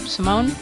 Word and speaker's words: Simone: right Emily I hope Simone Simone it's actually the Italian pronunciation Sim awesome abanza okay